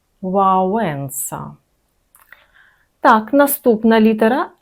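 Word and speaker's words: Wałęsa: Губив трубочку в Запам'ятайте, ця буква не має відношення до звука л, принаймні в сучасній польській мові. Вимовляємо її в вонка, лагоднощ, мілощ. І пана Лехаю сьогодні вже пригадували. Олег Валенса. Вауса.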